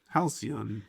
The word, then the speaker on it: Halcyon: If it's Greek, what do you think it be? What do you think you say it? Well, Halcyon. Halcyon. Halcyon. Yeah. Halcyon. Because it's Greek. So like cyan, the color cyan.